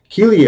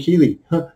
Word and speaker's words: Keeley: is keeley petals um keeley i like the name because it rhymes with the greely greely and keeley almost the same and uh so i